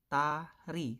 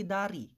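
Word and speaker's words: 다리: Ito po ay tari. Tari. Sir, bakit hindi dari?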